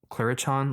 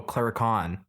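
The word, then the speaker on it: clurichaun: Oh, Clarichon like Oh, clericon like leprechaun.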